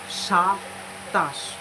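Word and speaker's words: সাতাশ: 27 means shatash. Shatash. Shatash. So first is dontosho a sha, then to a ta, and talbosho. Shatash.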